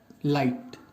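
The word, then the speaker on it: plight: 15th word है लाइट, P silent है इसमें, जिसका मीनिंग होता है दशा या अनफॉर्चुनेट सिचुएशन, ठीक है।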